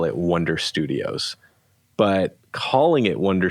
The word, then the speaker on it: Oneder: I'm okay with that so the correct way is wonder if you want to